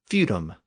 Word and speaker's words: feudum: and it became theadom fodm eventually came to be pronounced as feudum and since the property